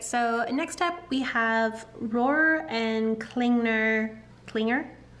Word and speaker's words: Rohrer & Klingner: next up we have Roar and klingner Clinger Roar and Klinger I think that's how you say it alt Bordeaux um this